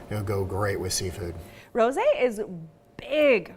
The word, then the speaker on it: rosé: Rosé is big right now. It's been big for a little bit because, I mean, it rhymes with all day, so rosé all Rosé all day.